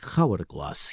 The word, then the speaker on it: hourglass: We are like grains of sand in the hourglass, you and me. He pronounced it with a hard H. Hourglass.